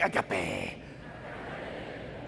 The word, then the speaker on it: agape: No, but say it like a fun way, like agape.